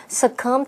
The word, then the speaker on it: succumb: 就是一匹赛马的名字，舅舅跟园丁都在那一匹马上面下了很高额的赌注。那即使 Paul 他生病了，可是当园丁告诉他说他赢了8万英镑的时候，他非常高兴，因为他可以证明自己超级幸运，可以得到妈妈的认同跟关爱。可是就在那天晚上，Paul 就因病过世了。好，补充单字 succumb。succumb 字尾的 b 不发音，它是动词，表示屈服或是死亡。那之后常常会接 to 再加名词，像文中的 succumb to his illness 就表示因病过世。好，最后补充一下，Mike 老师认为舅舅跟园丁带 Paul 去赌博，这是不对的行为，这也导致他英年早逝。那老师说